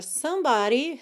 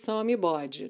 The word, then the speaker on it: somebody: palavra somebody né porque se você for ler da forma como a palavra se apresenta ali na escrita sem um conhecimento da fonética do inglês você provavelmente falaria some